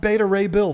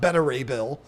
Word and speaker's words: Beta Ray Bill: And yes, that one is pronounced Betta Ray Bill, folks. Look it up in the comics. It's not Betta Ray Bill.